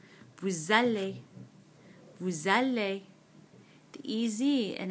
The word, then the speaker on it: vous allez: Again, just like the new form, this S, which is normally silent, normally it's pronounced vous, suddenly is going to become pronounced because of this vowel, this A in aller.